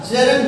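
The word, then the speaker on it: gerund: पहला होता है हमारा इन्फिनिटिव, दूसरा होता है हमारा जेरंड और थर्ड होता है हमारा पार्टिसिपल. फ्रेंड, इसकी जो प्रोनाउंसिएशन है वो होती है जेरंड, ना कि जिरंड. जेरंड बोलते हैं जेरंड.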